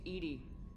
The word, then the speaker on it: EDI: airlock is a jar why are you named Edie Ed is thetic pronunciation of e di that is an acronym